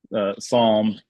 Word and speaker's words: Psalm: you go from for not knowing how to pronounce PS l m Psalm um to to knowing that not not that